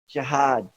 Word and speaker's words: jihad: word is anyone here Jihad that's how you say it in Arabic and that's another study